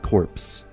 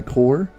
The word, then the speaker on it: Corps: You don't pronounce the P. So it's not corpse. But what I don't know is, do you pronounce the S? Do I say Valkyrie Core? Or Valkyrie Cores? Because I don't know if two letters are silent. Is it cores? Core. Valkyrie Core.